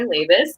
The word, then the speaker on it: Labus: My name is, as Justin correctly pronounced, I'm Labus.